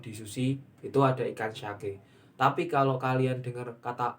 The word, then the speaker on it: sake: Lah, hati-hati ya teman-teman, untuk sake sendiri itu kalau kita cuma pelafalan tidak dilihat dari hurufnya, itu ada dua, sake sama sake. Kalau sake itu kayak alkohol, minumannya beralkohol. Kalau sake itu ikan, maksudnya nama ikan di Jepang nggak buat kayak apa